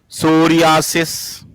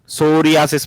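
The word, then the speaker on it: psoriasis: रख सकते हैं आप सोरियास सोरियास प साइलेंट सोरियास मतलब स्किन स्किन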